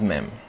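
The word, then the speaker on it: מם: to write it down next is mem it's a bit tricky to write it down but follow my hand like so mem the English equivalent is m mem now once again whenever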